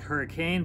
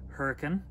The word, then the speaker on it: Hurricane: together by the way the city looks like hurricane but it's pronounced hurricane and they are they sit right next to